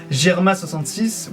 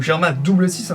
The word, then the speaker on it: Germa 66: vraiment recherché là-dessus que germa 66 ou germa double6 d'ailleurs comme l' avait été comme il avait été bien précisé qu'il fallait le prononcer de cette manière et non pas 66 mais peu importe que